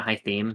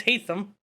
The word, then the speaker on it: Haytham: famous assassins i theme what is it a high theme don't you pronounce it longy hatham no it's hate them how's it spelled so we go along we